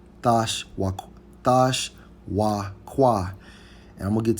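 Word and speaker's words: תשוקה: Hey, and when we go into the Hebrew term for desire in Genesis 3 and 16, it's Strong's H 8669, pronounced as Thash Wakwa. Thash Wakwa.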